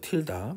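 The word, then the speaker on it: tilde: f 틸다라고 읽어요. 틸다.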